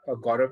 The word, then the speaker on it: Gaurav: If I'm pronouncing it right, Gaurav.